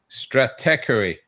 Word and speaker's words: Stratechery: Steve Gilmore has trouble with it as well, but it's Stratechery.